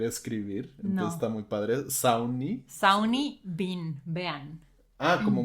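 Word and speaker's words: Sawney: iba a saber escribir Entonces está muy padre sauni sauni bein vean Ah como Mr bein Mr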